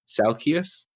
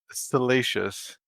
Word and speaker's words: Salacious: Salkius Crumb? Salacious. Salacious. See, this is always Fate's pronunciation of Star Wars characters is always a mixed bag.